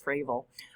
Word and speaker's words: Frable: My last name rhymes with navel, not travel. You call me Frable, but if you call me Frable, I'll still answer, but it's Frable.